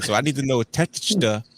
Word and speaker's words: Takeshita: Well, where is Tekashita? I can't say his name today. No, the Takeshita. Yeah, there you go. I'm saying it over here. Takeshita.